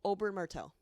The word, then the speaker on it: Oberyn Martell: Oh, Oberyn Martell.